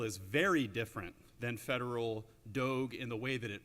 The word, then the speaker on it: Doge: known as do now some people are pronouncing it Doge because of the you know old school clerical implications I prefer do but